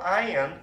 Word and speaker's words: iron: 이게 iron이라고 발음하는 사람이 많은데 iron이 아니고 R자가 발음이 안 돼요.